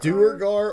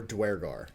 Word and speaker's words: duergar: on like dnd beyond there's like a pronunciation button they put dweregar do do urgar that's why i thought it was duragar yeah it says duergar or dwergar i'm not going to